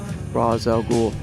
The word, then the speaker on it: Rosz al Ghul: Um, and it also helps phonetically uh for people to know how to pronounce Raz R O S Raz al Ghoul.